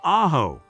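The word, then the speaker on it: Ajo: Located in the heart of the Sign Desert, just 43 miles from the Mexican border, Ojo, pronounced Aaho, Spanish for garlic, is home to about 3,500 residents.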